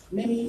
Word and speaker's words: Mimi: Mimi rhymes with Jimmy.